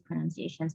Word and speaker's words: pronunciations: worth it wrong um actually it's pronunciations without the O um the first one